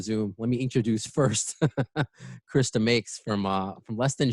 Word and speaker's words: Chris DeMakes: you're watching a zoom let me introduce first krista makes from uh from less than jake hello hello